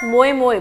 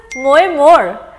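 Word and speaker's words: Moje more: songwriter Tia but wait now Indians are pronouncing it as moo but basically it is mo more well are you confused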